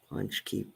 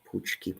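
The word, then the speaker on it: pączki: American style ones uh English speakers typically use the plural form of the Polish word in both singular and plural pronounce it Punchy poochki Punchy right with the on this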